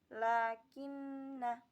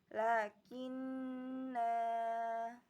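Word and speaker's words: لَٰكِنَّا: Tapi ketika wasol, lafaz lakinna dibaca pendek, bunyinya seperti lakinna. Ketika waqaf dibaca panjang, lakinna.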